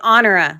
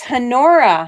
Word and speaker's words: Honora: I thought the H would be silent because a lot of times the H is silent. That's why I say honora. Like the word honor. It's hanora.